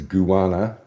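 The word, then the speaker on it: Kuwarna: is um it's h you don't pronounce it with a K the KU is a goo goo so it's goana and the TJ is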